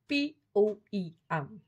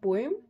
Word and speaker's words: poem: Poem या poem. हम बच्चों को कहते हैं चलो एक poem सुना दो. तो ये क्या है? Completely wrong है. इसकी correct pronunciation है poem, poem.